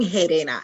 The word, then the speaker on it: Gerena: So, Harena, and you said it perfectly. Harena. Okay. The G sounds like an H.